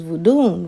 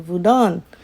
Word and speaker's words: vodun: Europeans use for them they use vodun vodon that's how they say it over there so you can